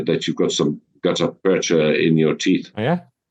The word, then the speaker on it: percha: How do you pronounce it, Percha or Percha? Percha.